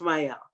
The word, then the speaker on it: Mielle: Am I pronouncing that right, Monique? Is it Mielle? It's Mielle.